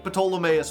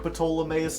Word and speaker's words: Ptolemaeus: The P is silent. I'll pronounce things the way I want to. I think Ptolemaeus sounds cooler.